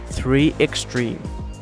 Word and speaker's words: 3Xtrim: In English, the company name is pronounced 3Xtrim.